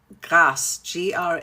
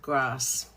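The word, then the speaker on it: Grasse: So, there's a beautiful area outside of Paris called Grass. Grass S. And I've been to Grass many times. Have any of you been to Grass? Gr R A S S E. The French pronounce it grass.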